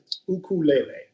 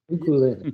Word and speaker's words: ukulele: be pron the great the correct way to pronounce it in Hawaii so ukulele ukulele yeah if you go